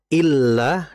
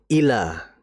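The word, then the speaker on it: إِلَّا: Kemudian berikutnya bedakan antara membaca illa dengan ila. Nah, kalau illa berarti kan di atas lamnya ada tasydid ya. Nah, itu ditahan dulu.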